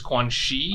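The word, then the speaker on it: Quanxi: be quan chi versus quan shi i think i think she is like x i that that is pronounced she not not yeah c because her her character is chinese yeah i think i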